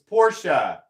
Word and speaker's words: Porsche: Yeah, Slicey says, Porsche is what always gets me. It's Porsche. It's the man's name. You know what's funny is that's kind of an in-between thing. Because I say Porsche intentionally now because I want people to correct me.